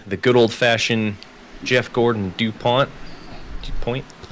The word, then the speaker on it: DuPont: I for some reason thought there was an I in there. It's Dup. It's DuPont.